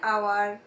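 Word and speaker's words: hour: এখানে কি অ্যান আওয়ার, আমরা কি অ্যান হাওয়ার বলি, বলি না, অ্যান আওয়ার.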